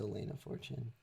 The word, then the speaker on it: Elena Fortune: Hold on, Alana Fortune. It's Elena Fortune, maybe? Maybe I'm saying her name wrong. Yeah, it's Elena Fortune.